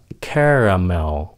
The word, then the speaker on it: caramel: Cái từ này người Mỹ phát âm nó là caramel.